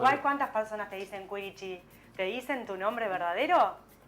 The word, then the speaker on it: Quirici: Se pronuncia Quirichi, pero Quirichi. puede decirse Kirichi también.